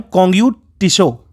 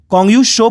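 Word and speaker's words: Konggyu Tsho: और ये एक लेक इसके आसपास पड़ती है, उस लेक का नाम है कोंगयू टिशो। कोंगयू शो पढ़ेंगे, टी साइलेंट है।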